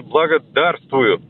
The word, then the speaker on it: благодарствую: То есть благо, вот если поставишь пробел условный после слова «благо» и сделаешь ударение на букву «да», ну, на первый слог «да», то получится «благодарствую».